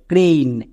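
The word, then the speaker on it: crane: এন কি হয়ে যাবে, ক্রেইন। এখানে এ আই এর জন্য এই সাউন্ড হয়ে গেল। সো যে কোনো একটা সাউন্ড করতে পারবা। যদি একার দিয়ে করো তাহলে ক্রেন সঠিক, যদি এই করো তাহলে ক্রেইন সঠিক।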